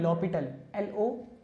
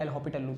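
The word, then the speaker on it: L'Hôpital: और French language में इसको कहते हैं लॉपिटल, HOS की जगह पर आपके पास क्या आ जाएगा, डायरेक्टली LO आ जाएगा।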